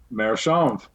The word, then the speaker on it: AmeriChanvre: How do they pronounce it? Americhanvre. Just like it's spelled.